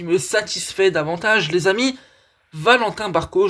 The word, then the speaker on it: Valentin Barco: Valentin Barco, je la prononce à la française, qui débarque à Strasbourg.